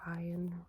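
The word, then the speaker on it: Iain: by him, because I remembered like failing to pronounce his name correctly. Ian or Ian Reid.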